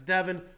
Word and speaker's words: Devon: world right now uh I kind of said Devon like leavon I apologize it's Devon and leavon I kind of get the wrong emphasis on the wrong syllables sometimes but you've got Devon larrett